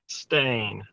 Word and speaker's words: Chastain: Chastain.